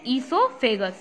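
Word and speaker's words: oesophagus: ओ silent है, ईसोफेगस यानी कि फूड पाइप।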